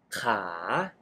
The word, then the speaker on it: ขา: ลูก ค้า ขา ประจำ Oh you pronounce ค้า Which means to Trade with the high Tone ขา ขา and ขา Meaning Leg With The Rising Tone ขา ขา Well You can hear that คา and ขา can pronounce similarly but They Have different tones That indicate different meanings So Be careful This